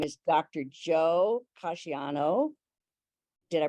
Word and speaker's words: Casiani: Joe Casciano. Did I pronounce that right? Yes, Casiani.